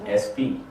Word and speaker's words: Espee: Espee.